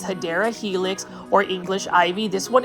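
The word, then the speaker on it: Hedera: over here we've got a hedra helix or what I would call the correct way to say it is hadera helix or English ivy this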